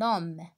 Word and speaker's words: homme: la même chose toujours je prononce pas la lettre h d'accord allez un homme